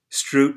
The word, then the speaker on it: Struth: exchange students proud and pronunciate thomas Stroup's named correctly Schrute trained at the Dusseldorf